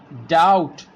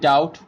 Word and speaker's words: doubt: seemed here calm dead doubt here we can say that and doubt the letter be put before the T move our next dumb